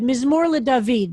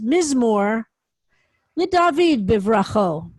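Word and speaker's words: mizmor le-David: the words were also oral tradition says that they should be read ms morla david not don't read it as miss moore le david so it's telling us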